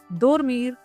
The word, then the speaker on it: dormir: dormir dormir।